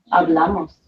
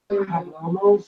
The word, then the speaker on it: hablamos: Nosotros hablamos. Okay. Vosotros habláis. Okay. And ustedes, ellos, ellas hablan. Hablan. Okay. So how do we say we speak Spanish in class? Hablamos. Hablamos. Remember H is silent.